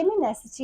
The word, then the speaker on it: Feminacity: the beginning yes um feminity is that correct it's feminity if you break it down it's pretty much fem in a city oh F in a